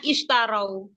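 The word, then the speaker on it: اشتروا: alata gimana Ustaz salah nah bacanya istarau kalau lanjut ikalladinarau Ikar tapi kalau diprotoli ulaikadinaar ulaikalladinar mereka itulah orang-orang yang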